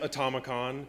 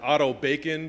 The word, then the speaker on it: AutomaCon: It's pronounced AutomaCon, kind of like Comic-Con. I've also heard AutomaCon and Auto Bacon.